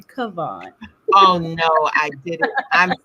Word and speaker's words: Kavon: And let me just say, as a queen, I would like to ask that you pronounce my name Kavon.